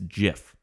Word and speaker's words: GIF: you know that no the person who came up with gifs or gifs says no no it's it's jif that gif is supposed to be a j sound oh i didn't know